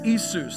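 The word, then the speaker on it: Ἰησοῦς: And it actually, Jesus is Isus. That's Greek. The Greek word for Jesus is Isus.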